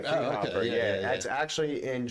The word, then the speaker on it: Friedhofer: Friedhofer.